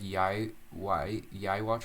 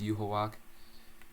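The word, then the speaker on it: Yhwach: name the Quincy king's name was like yai yai watch or something it's not it's you hawak I'm just stupid I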